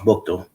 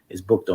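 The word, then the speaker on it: Buchtel: And it's pronounced Bukto. So I just wanted to because we hear that all the time, and but yeah, it's Bukto, man.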